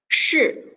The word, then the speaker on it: 是: Okay, so it's the word, this one, SHI, 是. Okay, not she over there. 是. Put your tongue in the middle of your mouth.